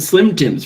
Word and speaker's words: Slime Time: anyway this is um it would be spelled slime time but that is not how it's pronounced the E are in fact silent so this is Slim